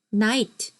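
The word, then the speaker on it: knight: 기사 기사도 정신할 때 그 기사 나이트 나이트 앞에 붙어 있는 거 아십니까 근데 소리 안 나죠 근데 그 케이크 없는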